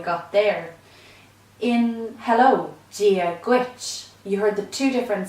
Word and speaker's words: Duit: The Duit then is something like a hard G in English, like in the word girl, Duit, but it's slightly more guttural in Irish. It's a sound we don't have in English.